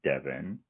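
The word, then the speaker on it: Devean: You know how Devin would usually be D-E-V-O-N? Yeah. It's D-E-V-E-A-N. What? I almost called him Devon, so... Ooh. And then so Devin gets grilled by all the men of the family.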